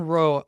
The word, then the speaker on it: Rowe: Yes, John Rowe, ROWE.